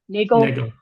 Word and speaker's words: Nagel: Um, what is your full name and please spell it for the record? Sure. Uh, my name is Nagel.